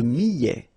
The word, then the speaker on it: millet: Le millet, here, I, and then double L, so I, millet. ET at the end, open, millet.